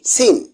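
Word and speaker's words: scene: এস এর পর সি থাকলে সি এর উচ্চারণ হয় না। যেমন এস সি আই ই এন সি ই সাইন্স এস সি ই এন ই সিন এম ইউ এস সি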